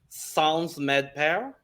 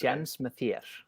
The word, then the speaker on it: Séns Mér: I'm gonna mess up this pronunciation, but I'm gonna go with Sans Medper. Almost. It's Séns Mér.